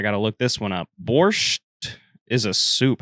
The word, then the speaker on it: borscht: Borscht is a soup. How do you pronounce that?